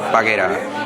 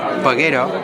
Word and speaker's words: Paguera: peguera tienen que escribir paguera y si lo pronuncian como lo pronunciamos aquí paguero simplemente la vocal muda tanto la a inicial como la a final pues tienen un sonido distinto al castellan pero se escribe exactamente